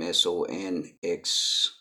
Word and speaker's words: Sonxai: Sonxai. You can call me, brother. Okay. It's pronounced Sai.